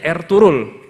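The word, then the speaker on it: Ertuğrul: Bacanya Ertugrul.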